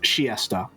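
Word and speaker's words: Chiester: to Winchester and also apparently it's pronounced shiesta might just be a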